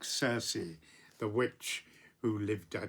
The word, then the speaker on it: Circe: The Greeks would have pronounced that Kirke. Because it's written with a kappa to the the Greek letter kappa, which is always hard, Kirke.